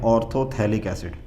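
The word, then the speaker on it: orthophthalic acid: वैसे तो ये PH भी लिखा हुआ है बट ये PH साइलेंट होता है, इसको बोलते हैं ऑर्थोथैलिक एसिड, ठीक है।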